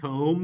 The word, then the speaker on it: comb: plosive but guess what we don't pronounce the b anything that's not pronounced in IPA is not written so if I'm going to write the whole word comb in IPA it's going